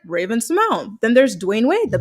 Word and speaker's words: Raven-Symoné: So you would think her name is Raven-Symoné, but she doesn't pronounce it that way. She pronounces it Raven-Symoné.